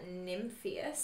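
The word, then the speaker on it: Nimphius: I want to give a shout out to Professor Sophia Nymphius. Oh, who I've yes. probably butchered her last name. No, that's how you pronounce it, Prof.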